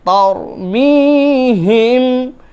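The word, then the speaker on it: تَرْمِيهِم: ওয়া আরসালা আলাইহিম তয়রান, তয়রান, ত ত তয়রান আবাবিল, তারমিহিম, এটা হচ্ছে ছোট হা, তারমিহিম বিহিজারাতিম মিন সিজ্জিল ফাজআলাহুম, ফাজা জিম, হ্যাঁ, ফাজআলাহুম কাআস, কাআস, কাআসফিম মাকুল।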